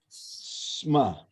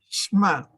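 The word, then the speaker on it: שמע: Ya, y este Shema es Shma. Shema. Ya, Shma. Ya, pero se entiende por Shema Israel, Yahweh Eloheinu, o Adonai Eloheinu, Adonai Echad.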